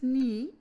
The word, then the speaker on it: knee: अहमद्स नी got injured, अहमद्स नी, इसमें KNEE, नी जो word है वो यहाँ पर इसमें साइलेंट वर्ड यूज़ हो रहा है, के।